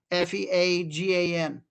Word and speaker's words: Feagan: And I was able to figure out, took me 6 months, but that the Fagan family looks like Reagan, but spelled with an F instead of an R, Feagan.